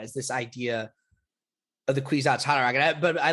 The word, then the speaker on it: Kwisatz Haderach: Wait, wait, yes, and that's actually the next thing I want to talk about is this idea of the Kwisatz Haderach.